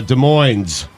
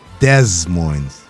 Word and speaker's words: Des Moines: of us went to college how do you pronounce the capital of iowa stu gods uh des moines des moines illinois chinny chin chin what i wrote that